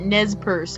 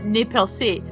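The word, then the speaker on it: Nez Perce: so they pronounced it nez purse and i know that's probably how most people pronounce it but it's a french word so you know in french i was like no it's properly pronounced nepelsi but i i couldn't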